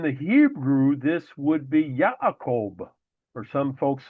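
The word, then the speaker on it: יעקב: But again in the Hebrew there is no J sound. So it is pronounced as Yakob.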